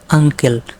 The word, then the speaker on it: uncle: তাহলে UNCLE উচ্চারণ কী হবে আঙ্কেল, যার ইউতে কী হবে আ, NCতে কী হবে উময় ক, LEতে কী হবে ল হবে।